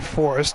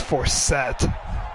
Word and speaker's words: Forrest: No chance for, I mispronounced his name earlier. It's actually Forrest. I misread it. Thought it was Forsett. Anyway, 2nd and 10.